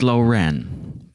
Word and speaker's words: Lauren: I just learned how to pronounce Lauren's name last week. It's Loren.